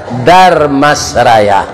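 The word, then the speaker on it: Dharmasraya: Supaya jan patah lidah membacanya, ditambah jo-er, Darmasraya.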